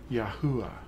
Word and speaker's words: Yahuah: If they don't know it's four vowels, then they're probably mispronouncing it. But it is four vowels. It's Yahuah. There's no consonants in the word.